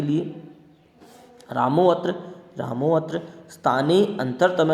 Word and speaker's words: रामोऽत्र: रामोऽत्र स्थाने अंतरतम है, स्थानेन्तरतम है, सहयुक्ते अप्रदाने सहयुक्ते प्रदाने आधारोधिकरणम। ध्यान रहे यहाँ पर अवग्रह लगाया जरूर गया है लेकिन उसका उच्चारण नहीं किया जाता है।